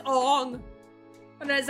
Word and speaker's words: Aang: would have showed you how to pronounce Aang's name. No, it's Ong.